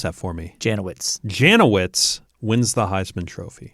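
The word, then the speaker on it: Janowicz: to sure i can uh 1950 vic janelle pronounce that for me janowitz janowitz wins the heisman trophy yeah from ohio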